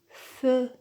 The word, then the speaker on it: feu: Généralement, il se prononce fermé quand il est à la fin du mot, comme dans le mot feu, feu. Mais il se prononce ouvert, E, quand il est suivi d'une consonne qui se prononce, comme dans beurre, fleur.